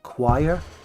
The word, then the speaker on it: choir: If the word comes from Greek, it's pronounced K. For example, choir, chorus, loads of other examples. Chemistry, because they're Greek, they're pronounced K. French words that were taken recently are pronounced sh.